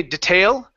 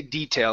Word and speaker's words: detail: ways of saying this you can say detail or detail personally I say detail i put the stress at the beginning okay so let's let's